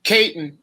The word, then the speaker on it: Katon: It's actually Katon. But, you know, for me, as long as people try, you know, like even if they fuck up my name, as long as they try to say it, you know, like in every country it's pronounced different, anyways. Like, so if I go to Chile, they pronounce it Katon, you know.